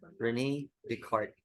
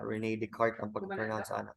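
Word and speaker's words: René Descartes: K he is called or his name is pronounced as Renee Dart okay some other Scholars would say that beart now but most of the scholars which matters would saying Renee deart the thinking thing so the thinking thing here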